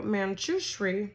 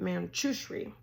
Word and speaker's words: Manjushri: depends on where you're from right okay so manchushree that's how you say it manchushri you can hear Divine guidance best by quieting